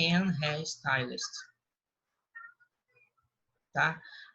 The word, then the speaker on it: Harry Styles: não pronuncia olhar mas no inglês a gente pronuncia com pão de r então vai ficar a real style não é em harry styles ah tá o enorme teste um arquiteto um